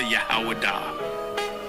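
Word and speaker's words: יהודה: When I say Judah, Yahawadah. That is the ancient pronunciation of the word.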